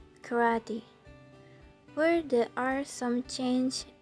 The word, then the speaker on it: karate: as it is written karate while in English the pronunciation is very different karate where there are some